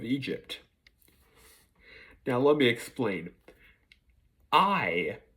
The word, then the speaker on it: Ay: now let me explain I is the way you pronounce his name it is spelled a y i if any of you